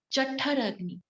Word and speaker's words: Jatharagni: Jatharagni. Pronunciation Ja Thar. Okay. Also write it down in your pronunciation, in your phonetics, how you're gonna pronounce Ja Tha Thar Jathar.